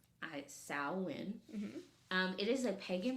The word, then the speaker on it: Samhain: those people so Sinn is a Gaelic word pronounced sain um it is a pagan religious Festival originating